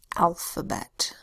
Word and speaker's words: alphabet: The A makes a short A sound, A. L says L. PH says F. Second A makes a schwa sound, The B says B. The E says E. The T says T.